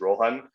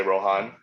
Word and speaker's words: Rohan: The correct pronunciation is Rohan. Most people say Rohan.